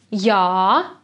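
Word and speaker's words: jā: is yes and no yes sounds like ya be careful pronounce the ah sound in a long way yeah because if you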